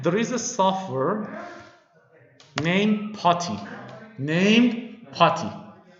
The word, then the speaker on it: PuTTY: is a sufferer named potty named potty unfortunately some people call this putty but this one is potty not putty okay okay it's a wrong pronunciation tutti potty okay patty